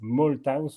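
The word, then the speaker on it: Malthouse: penseur est également américain Edward Malthus on prononce mthus en anglais alors lui il est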